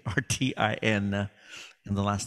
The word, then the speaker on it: Martin: You can always find me by just Googling my name, Martin, and it's not spelled with an E at the end. That's a French woman's spelling. It's Martin, and the last name is.